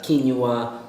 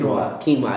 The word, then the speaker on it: quinoa: whole wheat a bread whole wheat pasta uh quinua it's like a little grain you can get that a lot of your local uh food stores how do you pronounce that Quin quinoa yeah he always makes fun of me I